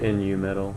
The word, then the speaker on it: Nu metal: moment it's corn so that's probably that's like Nu metal yeah metal yeah it's new yeah I I